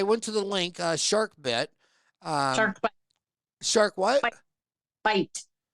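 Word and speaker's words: SharkBiit: Shark bite. Shark what? Bite. Is it B? But it's BIIT. Correct. But it's pronounced bite.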